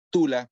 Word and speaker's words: Tula: Tula, Tula, así como suena, simple, hasta parece un apodo. No, pero termina en A.